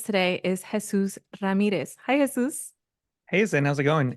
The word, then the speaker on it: Jesús: And I appreciate you pronouncing my name like the way In it should be Spanish. pronounced. Yeah, I don't even pronounce it that way, but I mean, I I can, but I got you. just go the American way.